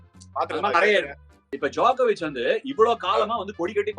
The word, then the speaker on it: Djokovic: நிறைய இருக்கு இப்ப ஜாக்கோவிச் வந்து இவ்வளவு காலமா வந்து கொடிகட்டி பறந்துருக்காரு ஓல்டஸ்ட் பிளேயரா வந்து திகழ்ந்த இப்ப அதுலயும் ரெக்கார்ட் பண்ணிருக்காரு.